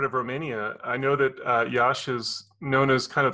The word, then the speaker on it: Iași: I'm from Romania, more specifically from Iași. It's pretty beautiful and big city. I know lots of people mispronounce it, but yeah, it's really fine there.